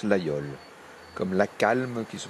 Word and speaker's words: Laguiole: Ça s'écrit l'Aguillole. Oui, ça s'écrit l'Aguillole et ça se prononce l'Aïole.